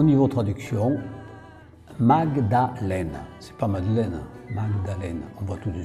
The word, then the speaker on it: Madeleine: de lacordaire au 19e siècle ordre puisque on prononce encore le gctat sur est aujourd'hui madeleine madeleine là c'est la même personne nous allons